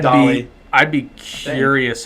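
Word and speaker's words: Dahle: I'm guessing it's pronounced Dale. It might be Dolly. I'm guessing Dale. Brian Dahmer. Just kidding. It's Dolly.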